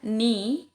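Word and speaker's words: knee: Salah satu contohnya adalah ni ya, bukan kni ya, karena kenapa? Huruf K ini ada sebelum kata N.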